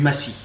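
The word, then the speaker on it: macis: que je préfère dans un muscade, c'est du massis. Massis, c'est s'écrit M-A-C-I-S, et c'est ni plus ni moins que la fleur de la noix muscade.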